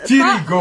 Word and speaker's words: Tirigou: Mais au Bled, il le prononce Tirigo. pas Hugo, C'est voilà, c'est ça.